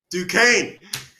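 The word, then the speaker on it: Duquesne: Coastal Carolina and the team I can't pronounce. So, go ahead. Dukane.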